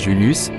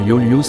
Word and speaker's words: Julius: Exemple, IVLIVS se prononce Julius. V servait pour la voyelle U et la consonne W et V. Exemple, Veni se prononce Veni. Les Romains lisaient sans problème. IVLIVS ne pouvait pas se lire Yolius comme une suite de voyelles.